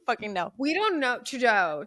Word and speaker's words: Trudeau: Trudeau. It's French. Trudeau.